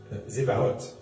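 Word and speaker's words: צבאות: Alors ça se prononce ce genre de T qui se prononce presque comme un S, un Z. Zevaot.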